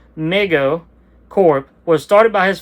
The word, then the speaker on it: Mego: MIGO pronounced Mego Corp was started by